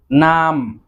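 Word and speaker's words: numb: উচ্চারণ করতে পারবো না, অর্থাৎ এই শব্দগুলোতে বি এর উচ্চারণ হয় না। যেমন নাম, নাম অর্থাৎ অবশ হয়ে যাওয়া।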